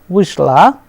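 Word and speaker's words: вышла: So, here since the stress is on ui, we pronounce it as vishal, vishla and vishli.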